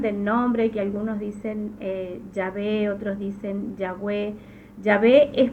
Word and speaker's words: Yahweh: Es por eso que lo conocemos, o sea, la pronunciación correcta sería Yahweh y no Yahvé.